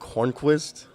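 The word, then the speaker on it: Hörnqvist: how do you think he say it Patrick Horne Quist yep exactly right what about the second one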